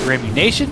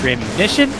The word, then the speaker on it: Remission: in the uh intros i said remy nation it's remission i apologize for keyshawn and